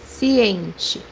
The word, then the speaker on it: ciente: So we pronounce letter C as S. The example that we have here is the word aware, which is in Portuguese ciente, ciente.